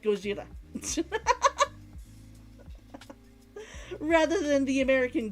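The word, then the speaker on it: ゴジラ: trained it into me that that word is pronounced like goira rather than the American Godzilla it's just a weird it it it's a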